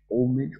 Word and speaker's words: homage: to think of it if you're speaking French oh there we go that's probably why if we're speaking French how do you say that wordage so homage people say homage to the blessed right English homage homage okay homage to the